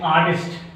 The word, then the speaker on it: artist: When the R is silent in the word, disyllabic word express on first syllable. The example is artist.